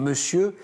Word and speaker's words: monsieur: Et puis, sans parler des exceptions cauchemardesques comme monsieur, qui s'entend le M-O-N s'entend me, alors que ça se prononce théoriquement mon. C'est comme oignon. Voilà. Oignon, monsieur, c'est vrai que c'est...